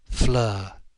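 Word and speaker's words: Fleur: in the sharpening light Flur it rhyme with her and she lived at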